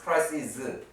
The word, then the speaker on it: crises: 자 crisis 혼란 crieses라고 있습니다. 이렇게 z 발음하면 돼요. 복수가 되면 z고 여기는 s고 crisis crises 자 그럼 analysis 분석이죠.